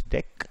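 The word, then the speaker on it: deque: which is called a deck it's pronounced as deck it's in the collections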